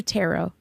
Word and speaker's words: tarot: know if you do tarot have you heard of tarot tarot cards okay it's called tarot so the t is silent yeah know sometimes sometimes